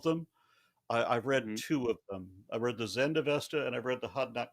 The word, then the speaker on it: Avesta: Would you accept the Avestas as evidence of Ahura Mazda?